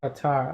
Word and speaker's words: Qatar: into it to make it work very fluid pronounced qatar oh okay qatar have a great weekend meredith